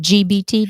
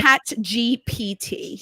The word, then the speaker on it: ChatGPT: Is it GBT? Did I say it right? Chat GPT.